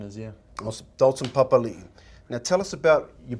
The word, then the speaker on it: Papalii: eyes and so it's it's been oh it's pronounced Papa Lee but there ' and by you know knowing